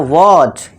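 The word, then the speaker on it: watch: कैसे होगा देखिए दोस्तों, अब टी के बाद देखिए आ गया हमारा सी एच, तो यहाँ पे हमारा टी क्या हो जाएगा, साइलेंट हो जाएगा, यानी कि टी को भूल जाओ और सीधा पढ़ो वॉच।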